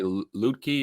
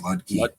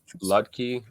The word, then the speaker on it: Ludke: I would say Lutke or Lukey. It's just Ludke. Ludke.